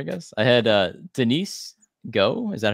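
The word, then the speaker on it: Gough: in order I guess I had uh Denise go is that how he pronounce it yeah who plays Deidra um Deidre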